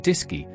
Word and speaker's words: DSKY: The AGC communicated with the crew through the DSKY, pronounced Disy, the display and keyboard unit.